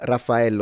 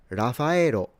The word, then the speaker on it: Raphael: And I remember that when when I was in Japan, people would pronounce it Raphao. So they don't do the doubles, double F and double L, Rafao.